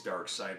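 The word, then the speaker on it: Darkseid: back in the day phonetically it's dark see I mean II ID but it's dark side but it's you know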